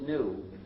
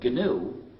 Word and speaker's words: GNU: of our operating system please do not follow the dictionary if you pronounce it new you will get people very confused you see we've been